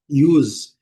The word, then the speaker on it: use: Letra E não é pronunciada. Olha a transcrição fonética. Use. Letra S com som de Z. Z. Então a pronúncia, a melhor pronúncia, né, que eu acho é us.